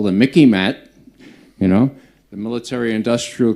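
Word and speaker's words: MICIMATT: now look it up Mickey mat rhymes with Mickey Mouse so you can remember it it's what Eisenhower warned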